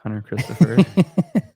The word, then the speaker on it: Hunter Christopher: And uh our guest is Hunter Christopher. Um how do you say your name again? It's Hunter Christopher. Um short C. Yeah, with a short C.